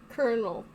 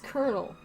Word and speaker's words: colonel: the cramp session is interrupted by color current colonel it's colonel I can read I promise you I know